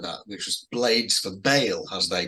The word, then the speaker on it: Ba'al: but um yeah we've heard but it's sometimes pronounced pale well I think with the accent but we've got in the um in the logo it's supposed to pronounce bail right we've always said Baal yeah so yeah I think okay I know